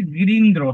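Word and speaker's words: গিরীন্দ্র: খেয়াল করুন এখানে যে গিরিন্দ্র হ্যাঁ যদি এটা থাকে তাহলে আপনি গিরি ইন্দ্র বলবেন গিরি ইন্দ্র বলবেন না গিরি ইন্দ্র বলতে হবে গিরি ইন্দ্র না গিরিন্দ্র যেহেতু দীর্ঘ ইকার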